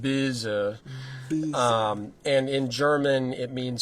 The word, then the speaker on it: Boese: No, it's some very Americanized German. Okay. Mangled, some might say, but it would be pronounced Boese.